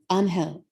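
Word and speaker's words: Ángel: Dr. Angel was his name, pronounced the Spanish way, Angel.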